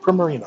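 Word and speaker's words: Primarina: in debris on and permit I can never pronounce that properly premier Primmer ena pro marina there we go water and fairy-type god I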